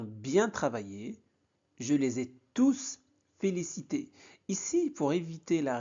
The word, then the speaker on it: tous: Faites attention à la prononciation. Dans cet emploi, tous est un pronom. Donc, on prononce le S. On dit bien, je les ai tous félicité.